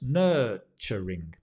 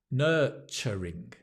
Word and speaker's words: nurturing: indulgent nurturing right nurturing the ner is the stress nurturing it's a cha notice not a cha nurturing nurturing my teacher is very